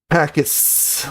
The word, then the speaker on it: pacis: And Jen says that it's pronounced pacis like a snake with the s. That's interesting. with an S like a snake.